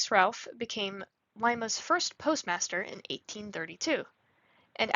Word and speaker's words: Lima: Patrick G good who insisted on the Spanish pronunciation Lima after the capital of Peru but the local vernacular Lima prevailed he honored Lima Peru